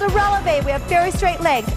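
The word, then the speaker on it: relevé: we're going to do called a releve relevant kind of sounds like the word elevator and elevators go up same thing with a releve let's put our arms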